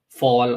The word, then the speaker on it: fal: So the two models we're going to look at is one on Fall or FAL AI, however you want to pronounce it.